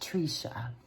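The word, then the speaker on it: Tresha: is spelled t-r-e-s-h-a and it's pronounced Trisha long e sounds there's a sweet background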